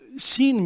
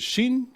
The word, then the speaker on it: Shin: take the letter Shin, that's pronounced with your teeth.